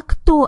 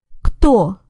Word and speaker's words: Кто: So what is she asking when she says, А кто это? She's asking, and who's this? So, Кто?